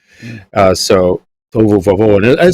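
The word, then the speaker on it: תֹהוּ וָבֹהוּ: fancy Hebrew words here, tohu vavohu, and they all try and say it like that, and it's really tohu vohu, but the va in front of it is an and, so it's like it's a conjunctive vav.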